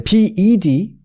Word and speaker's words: bed: 그래서 이제 침대 같은 거 말할 때 bed 요거 이제 bed 이렇게 되거든요.